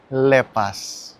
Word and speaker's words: Lepas: Emang ini tulisannya lepas, tapi bacanya lepas.